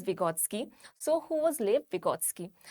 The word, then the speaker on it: Vygotsky: The correct pronunciation is Vygotsky.